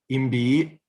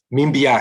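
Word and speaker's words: Mbyá: And the second story is going to be about the Imbi. I'm not sure how to pronounce it actually. Mimbia. So my wife, the professor that has the connections there, is correcting me.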